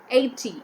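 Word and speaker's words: eighty: 80, E-I-G-H-T-Y, 80, G-H is again silent here.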